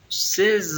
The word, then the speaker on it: ces: No se pronuncia ces, se dice C con una E un poquito más abierta.